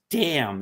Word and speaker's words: damn: It a word is pronounced damn. It's a silent N, but you will not use that word."